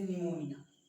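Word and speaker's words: pneumonia: For example N के पहले जैसे निमोनिया, न्यूमोनिया, इस स्थिति में पी क्या होता है, हमारा साइलेंट होता है।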